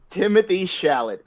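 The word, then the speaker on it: Timothée Chalamet: know we talked about it already it's a pronunciation question how do you say uh it's tim it's challenge shout timothy shalit thank you timothy thank you thank you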